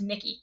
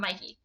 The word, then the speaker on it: Mickey: If you did, you would know that that is Mickey. That is not Mikey.